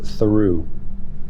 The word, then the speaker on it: Theroux: Uh, do you guys disagree on how to pronounce your last name? Yes, we do. H. And how does he pronounce it? He pronounces it throughu.